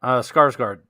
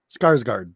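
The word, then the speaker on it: Skarsgård: never say right did it the clown oh skarsgard skarsgard that's it yep that's interesting i don't know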